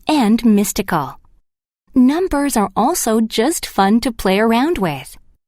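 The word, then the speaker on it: 十: 10 is considered a good number in Japan because it is pronounced ju, like the Japanese word for enough.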